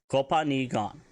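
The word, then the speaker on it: copaani gaan: That is spelled C-O-P-A-A-N-I space G-A-A-N. Kopani gan.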